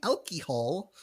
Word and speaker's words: alcohol: flanders planters punch so marge tells homer to go easy on the elky hall cause marge that's how she pronounces elky alcohol elky hall uh the last time